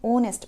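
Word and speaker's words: honest: silent है नेक्स्ट है ऑनेस्ट H silent है नेस्ट नहीं है ये इसको आपने ऑनेस्ट पढ़ना है ठीक है नेक्स्ट है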